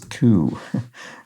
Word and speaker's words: coup: hills uprising beverly hills coup that was tougher to get because you couldn't you can't pronounce the the p so it's an uprising